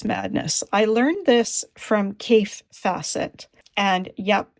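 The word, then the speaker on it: Kaffe Fassett: I learned this from CI facet and yep it's pronounced C facet it rhymes with safe asset I've met the man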